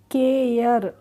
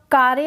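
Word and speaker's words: care: सी आही है तो हम क्या पढ़ेंगे केयर कार्य नहीं पढ़ेंगे इसको क्या पढ़ेंगे केयर पढ़ेंगे ऐसे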